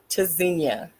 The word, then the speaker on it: Tzynya: It's pronounced Tzynya. It sounds like a zinnia. Nothing is silent. Every letter in the name is being utilized. So that's where it's a little confusing. It's not English, it's Hebrew, but it's the T is, you pronounce the T, you pronounce the Z.